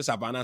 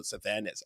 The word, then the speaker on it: Sylvanus: Sylvanus, the man that forced me to pronounce it in the real way, but all the people in the town, all the niggas say Savannah, Savannah, Savannah. The man say, hell no, Philip. You can pronounce like the other people. Let's go, Sylvanus.